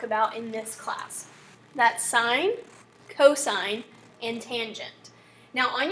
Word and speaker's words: sine: now on your calculator sine is abbreviated s-i-n but remember that that is not sin okay this is not a bible history class this is math class we're going to pronounce that as sine so the sine ratio